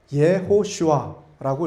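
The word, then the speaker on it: יְהוֹשֻׁעַ: 그리고 여호수아라고 한글 성경에서 여호수아라고 기록되어 있는이 이름은 어 히브리어로 발음을 해 본다면 예호시아라고 이렇게 발음을 할 수 있습니다.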